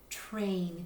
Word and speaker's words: train: Sometimes also kids don't really hear the ter sound at the beginning. They might hear train, train, and they might try spelling it with a CH, train.